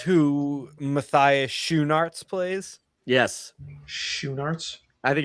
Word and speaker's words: Schoenaerts: Yes, Schoenaerts. I think it's Schoenaerts, right? It's spelled Schoenaerts. But you pronounce the E. No, it's SCHOE shoe NAERTS Narts. Schoenaerts.